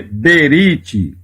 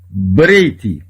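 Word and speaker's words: בְּרִית: com o Reish, então não se lê Berit, se lê Breit, que é aliança, significa aliança.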